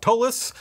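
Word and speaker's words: Ptolus: you to check out tolus the p is silent from money cook games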